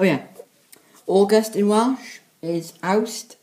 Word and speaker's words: Awst: August in Welsh is Awst, spelled as A-W-S-T. September in Welsh is spelled as M-E-D-I, and is said as Medi.